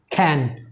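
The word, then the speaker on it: can: এটা কিন্তু ক্যান না, ইটস খ এর মতো উচ্চারণ করবেন, খ, ক্যান, ক্যান।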